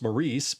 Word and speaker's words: Maurice: Props to Morris Evans or as they say in the US, Maurice, but I think abroad and in Australia it it's pronounced Morris.